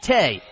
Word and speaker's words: THE: In addition to classes, ACT students are encouraged to attend a talent event put on by a company called THE, pronounced Tay.